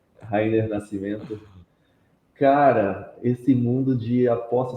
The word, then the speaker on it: Rayner Nascimento: A pronúncia está correta, pelo menos a primeira, é Rainer Nascimento.